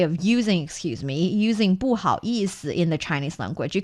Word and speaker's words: 不好意思: We know there are 4 tones and 1 light tone in the Chinese language. This one is the light tone. So 意思,不好意思. 不好意思. Perfect. 不好意思.